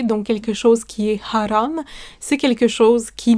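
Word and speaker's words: حرام: et cetera et enfin Haram ha RAM Haram qui signifie interdit qui signifie pêcher donc quelque chose qui est haram c'est quelque chose qui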